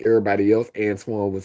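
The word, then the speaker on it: Antwoyne: So I always felt special about my name because it was pronounced Antoine but it was not spelled like the French people spelled Antoine.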